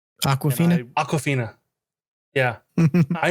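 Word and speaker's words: Awkwafina: Aquafina. Aquafina. Yeah. I Like never the heard of water? her before. She was my favorite character. Favorite character of the movie. She was amazing. She was great. Aquafina?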